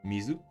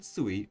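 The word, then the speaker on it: 水: Mizu, kunyomi, Japanese standalone reading, and sui, onyomi, sound compound reading, written with 4 strokes.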